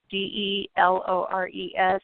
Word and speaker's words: DeLores: Again, her name is spelled DeLores. It's DeLores.